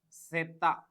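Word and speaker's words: zeta: Zed is Sumo the pronunciation of Z is seta the pronunciation is seta seta Sumo means juice so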